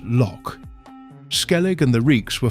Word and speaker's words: lough: The Irish word lough is pronounced loch.